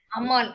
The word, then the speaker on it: Ammal: Oh, Kupai Ammal. Thank you. Ammal, actually. We pronounce it Ammal.